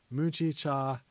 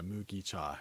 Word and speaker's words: mugicha: have in the summer muji mujicha actually no sorry mugicha it's mugicha i said it wrong i forgot my japanese